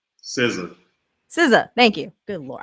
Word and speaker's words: SZA: SZA. SZA, thank you. Good Lord. I want to say scissors, like an idiot, but like, you know, my bad.